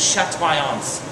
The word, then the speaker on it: chatoyance: It's or the French pronunciation is chatoyance, okay?